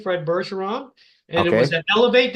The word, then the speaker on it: Bergeron: name my last name berson so it's F berson the number two okay just a second now people don't know your French and they don't know that's a soft G so spell your last